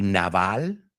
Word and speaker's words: navel: Naval es el ombligo. N-A-V-E-L. Y naval, de la marina, naval, se pronuncian exactamente igual. La palabra navel y naval. Ambos son naval.